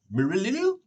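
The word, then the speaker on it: Merilille: But the Hall at the end decides to send a letter to Mirilil? Mirilil is the correct pronunciation.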